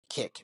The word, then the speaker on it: Kik: No, you're thinking of like the I think you're thinking of like the other kick live streaming app.